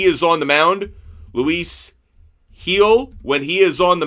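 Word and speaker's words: Gil: have performed when Lewis heel that's G but pronounced h i l uh when he is on the mound Luis heel when he is on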